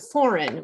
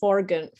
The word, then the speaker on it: foreign: And foreign, we don't say forgan, I can't even say it.